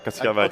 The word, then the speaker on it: Katsiadakis: He's done many, many things, and he's got a new venture, Lefteris Katsiadakis, how do you say that? Yeah, Katsiadakis.